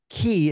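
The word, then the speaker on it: Cay: and Coco K or Ki if you prefer if you're from the Bahamas they pronounce it key like Florida Keys even though it's spelled c-a-y it's their Island and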